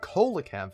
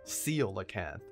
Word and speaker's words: coelacanth: how the fish is pronounced I have personally pronounced that Kola camp in the past but it is indeed pronounced coelacanth this ugly bastard will start to have gone